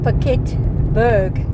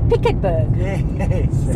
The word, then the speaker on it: Piketberg: an interesting name because I've always said pet Berg in English but I've heard on this trip a few local English people in the area pronounce it picket BG so I'm happy with